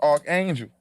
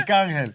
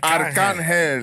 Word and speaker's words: Arcángel: I finally got the pronunciation right because I used to always think it was just Archangel.